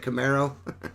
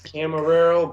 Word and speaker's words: Camarero: Is it Camaro? It's Camarero, but you could call it Camille for short, man, for the car.